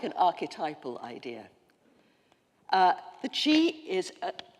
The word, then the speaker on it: qi: Now, the qi, it's spelled Q-I in English, but it is qi, is an example of a force that we find in every single pre-modern tradition, virtually.